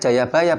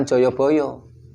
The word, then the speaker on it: Jayabaya: Bacanya Jayabaya bukan Joyoboyo. Kenapa?